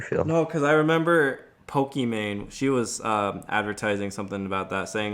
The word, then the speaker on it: Pokimane: Why'd you say Pokemane? I mean, that's kind of how you actually pronounce it. Like her real name's Imane. Yeah, but I thought it was well, she has an I, Pokimane. Didn't I say that? No, you said Pokemane.